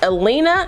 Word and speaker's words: Elina: this is the unit elena i think that's how you say it e-l-i-n-a i got her